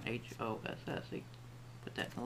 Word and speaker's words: Haus: was wondering physics is h-a-u-s but it's pronounced hoss as an h-o-s-s he put that in